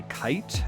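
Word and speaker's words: Kaight: This one was done by Kite. That's spelled K A I G H T.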